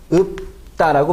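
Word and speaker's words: 읊다: 이 발음은 읍다라고 발음이 되죠.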